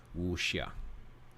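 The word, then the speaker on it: wuxia: the wusia foreign so in Chinese pinion X pronounces like an English s h so it would be wushia moving on now each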